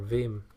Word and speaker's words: vi: to to VI or Vim vi v which is a text editor pronounced VI oh never heard that